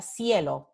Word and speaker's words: cielo: Un ejemplo con la secuencia de letras C, I, es, por ejemplo, la palabra cielo, sky, cielo. Se escribe C-I, pero el sonido de la C es S, S.